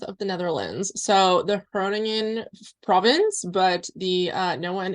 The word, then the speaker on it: Groningen: Yeah, it's like Groningen would be kind of the English. So I'm American. Yeah. I'm sure people can probably hear that. I didn't pronounce it like in Dutch, but it's like it's the hairy G in Dutch, the Groen, I can't say that.